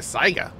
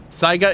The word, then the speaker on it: Saiga: Saiga is pronounced Sega?